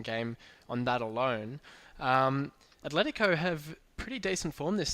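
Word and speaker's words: Atlético: say it yeah no Athletico oh sorry I'm in cook that was me yeah sorry cookson how do you say it I'm again Atletico I mean admittedly they've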